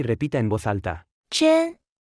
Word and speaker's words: 真: 真真真真真真真 Se pronuncia con el primer tono.